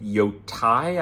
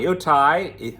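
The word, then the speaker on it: Yōtei: It is called Mount Yotai, I believe is the pronunciation.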